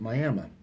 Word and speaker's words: Miami: And then tomorrow I'll be passing through an area in Oklahoma that's spelled like Miami, Florida, but they pronounce it Miami.